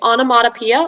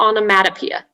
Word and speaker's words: onomatopoeia: there any alternate pronunciations yes there's a slight variant so it can be onomatopoeia or onomatopoeia okay so um is